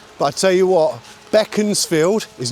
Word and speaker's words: Beaconsfield: Basically, if you know anyone from here, that's the way it's way we pronounce it. Um, but I tell you what, Beckansfield is not Beaconsfield.